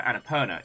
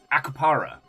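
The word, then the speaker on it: Akupara: I'm saying it right because it's not uh Annapurna it's uh acapara so it's acapara games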